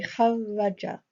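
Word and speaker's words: kharraja: there will always be, the middle letter will always be doubled. So when I'm pronouncing it, here I need to say kharaja. It's like I'm saying the r sound twice.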